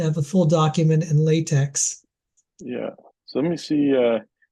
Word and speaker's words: LaTeX: looks like to have a full document in LaTeX. Yeah. So let me see. And just so you know, the actual pronunciation is latex.